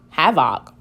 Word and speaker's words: havoc: So I know this is have. Let's see what happens if I make this a short sound. Have, havoc. I've never heard that word before.